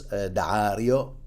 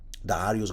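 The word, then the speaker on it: Daario: Dario, that's how I pronounce it. Dario, it's got two A's, so and and an apostrophe in the middle.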